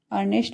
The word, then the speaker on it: earnest: अर्नेस्ट मीन्स Sacha, EARNEST, अर्नेस्ट।